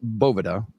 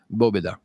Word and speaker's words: Boveda: the correct pronunciation is Bova so if you hear a Spanish speaker pronounce it it's going to largely be Boba yeah almost like the V is another B yeah and it is